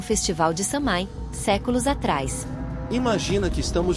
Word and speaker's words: Samhain: com o festival de Samai séculos atrás imagina que estamos voltando no tempo para centenas de Anos Antes do Halloween moderno até um festival antigo chamado samin pronuncia-se soen era assim que tudo